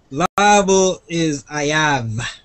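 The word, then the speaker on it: חייב: Liable is ayav. With an H. With a strong H at the beginning. Ayav.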